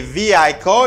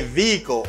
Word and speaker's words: vehicle: this letter is silent you don't pronounce the letter h vehicle good and this